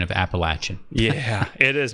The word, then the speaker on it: Appalachian: then now she has sounded it out phonetically Apple lay chian appellation it's Appalachian apple and I know what you mean appellation I hear that Appalachian Appalachian mountain chain some people say Appalachia